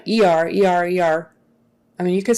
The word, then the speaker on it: ER: the middle right like you don't want to say er take them to the e r please th that would sound funny but so would take him to the er er please er er take him to the er um that's better than e r but not quite right take them to the